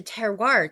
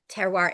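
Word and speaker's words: terroir: places like the wine world it there's a teroir to the tea and people I have this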